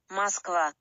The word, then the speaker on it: Москва: I actually looked up the Russian pronunciation and it's completely different. Have a listen. Москва.